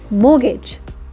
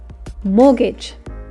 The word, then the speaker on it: mortgage: is called a mortgage you don't pronounce the T it's mortgage say with me mortgage now the family owes